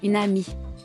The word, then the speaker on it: une amie: The enchainment takes place when a word ending with a pronounced consonant is followed by a word beginning with a vowel, and the consonant and vowel are combined into one syllable.